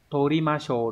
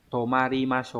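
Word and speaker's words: 泊まりましょう: Chữ đình chúng ta phải đọc là torimasho đúng không? Đấy. Xin lỗi, tomaru chứ. Tomarimasho nhá.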